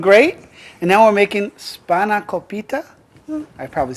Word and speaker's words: Spanakopita: And now we're making Spanakopita. I probably said it wrong again, didn't I? Spanakopita.